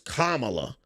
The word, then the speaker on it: Kamala: running for president that everybody started getting corrected on her name her name is kamla um and and then